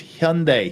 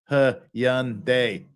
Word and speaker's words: Hyundai: for sakes it's Hyundai Hyundai is not difficult to pronounce Hyun like H young but without a g Hyundai Hyundai it's easy damn